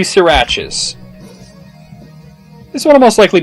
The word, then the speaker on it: Sriracha: Like, no, it's actually Sriracha. That's according to the, the people who actually make the hot sauce.